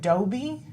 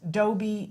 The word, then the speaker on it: DOBE: of an organization, am I saying it right, DOBE? Yes, Shannon, that's correct. DOBE.